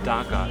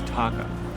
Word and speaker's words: taka: safe so before you it's not dacha it's taka really yeah you pronounce it